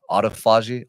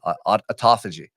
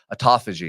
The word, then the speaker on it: autophagy: damaged cells first it's called Uh I always mispronounce this name aagi autophagy autophagy so Google autophagy uh the guy won a